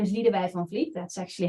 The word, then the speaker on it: Lidewij van Vliet: My name is Lidewij van Vliet. That's actually how you pronounce it, but it's difficult, even for Dutch people.